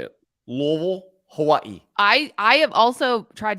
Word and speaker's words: Hawaii: think easy post does you pronounce Hawaii correctly and it makes my skin crawl Hawaii yeah you said that the right way you say it like the people who live on the island and forget it Forgetting